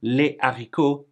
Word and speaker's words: les haricots: the H, but then when we have to say les haricots, les hameaux, and les hamsters, boom, no liaison.